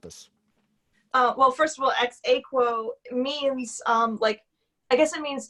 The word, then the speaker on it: Ex Aequo: And this is, you told me, I wrote this phonetically. This is Ex Aequo.